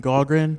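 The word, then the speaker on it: Gaughran: state your name and address please uh gogren that's spelled g-a-u-g-h-r-a-n uh 1204 Fellowship Court um really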